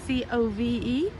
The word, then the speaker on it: Cobh: it was originally pronounced c-o-v-e or spell c-o-v-e and pronounce co so when they change the back they change it to c-o-b-h um so it's spelt c-o-b-h but pronounced co so i'm going to